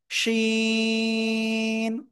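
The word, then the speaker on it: شين: তো এই অক্ষরটা কোন জায়গা থেকে উচ্চারণ হয়? ওই যে জিহ্বার মধ্যখান, তার বারবার উপরে তালুর সাথে লাগিয়ে শা শা শব্দ করে, শা শা, ঠিক আছে? শা শা শব্দ করে উচ্চারণ করতে হবে। শিন, তিন আলিফ টান, কয় আলিফ? তিন আলিফ।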